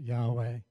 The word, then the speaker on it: Yahweh: of four letters but because of the lack of vowels Bible scholars today still debate how it should be pronounced we pronounce it Yahweh maybe right after the